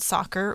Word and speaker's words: soccer: It's association made shorter, but they changed the soft C into a hard C. Yeah. Right? Which is weird. Yeah. But some people even spelled it back then. Some people even spelled soccer with S-O-C-K-E-R.